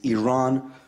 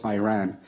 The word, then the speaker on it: Iran: You say you support the Iranian people, but you're pronouncing our country's name wrong. Our country is named Iran, not Iran.